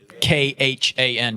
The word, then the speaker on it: Khan: KHAN, yes, Khan. It's pronounced Khan, correct.